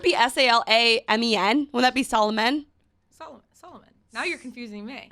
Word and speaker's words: Solomon: No, we're eating lunch last week, and she's like, Solo Man. And I'm like, Solomon? Wait, what? Was I taught that O's are pronounced as O's and A's are pronounced as A's?